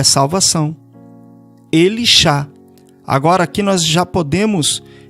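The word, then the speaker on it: Elisha: O nome de Eliseu, como se pronuncia? Elishá. Significa Iau é salvação, porque o Shá é salvação. Elishá.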